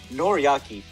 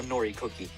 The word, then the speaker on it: Noriaki: okay aka listen listen noriyaki is not a nori cookie we already established that